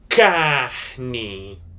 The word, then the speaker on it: carne: Kne C A R N E.